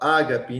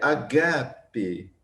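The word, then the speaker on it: ἀγάπη: Ágape, a gente fala ágape, não é ágape, é agape.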